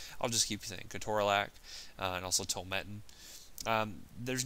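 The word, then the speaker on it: ketorolac: amethys um curac uh the actual proper way to say that is keto RAC but again you sound kind of like a pharmacy nerd if you say that so I'll just keep CAC and also totin um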